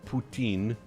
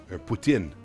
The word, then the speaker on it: poutine: Just an FYI, officially poutine is pronounced Putoutin, not Wait, what? Putin. It's Well, if you're doing it in French, sure. Putin, but we're not French.